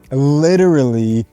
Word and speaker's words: literally: next word literally literally again you have that difficult earl earl literally literally challenging you notice the difference as well between e and e literally literally now in